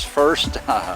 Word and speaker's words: PHirst: pronounce that but uh p h i r s t i'll let read it as first magalang first a first